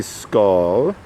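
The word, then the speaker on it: Sköll: not actually an eclipse so pronounced roughly skull old norse skull one who mocks so that's interesting and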